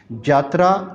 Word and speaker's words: जात्रा: जात्रा जिसे हम यात्रा कहते हैं, यानी कि वो ये को जीम प्रोनाउंसिएट करते हैं तो इसलिए वो यात्रा को जात्रा कह के, वो मजहबी नोयत